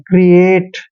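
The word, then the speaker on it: create: मात्रा लगा के जैसे सी आर ई ए टी ई सी को हम क पढ़ रहे हैं भाई आर को र पढ़ रहे हैं और ई को ई की मात्रा पढ़ रहे हैं क्री क्री हो गया ना एटी को एट पढ़ रहे हैं क्रिएट मतलब रचना करना बनाना ठीक है किसी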